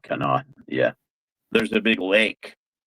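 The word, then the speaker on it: Conemaugh: Yeah, Kennot, I think, is how you would pronounce that. Canot.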